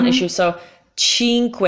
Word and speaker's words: Cinque Terre: the worst ways tink we tyreme yeah cheap cinque terre I think so Cinque you have to